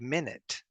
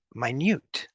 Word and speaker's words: minute: very small minute it's not it looks like minute but this one is pronounced minute minute let's go to another poem I'm going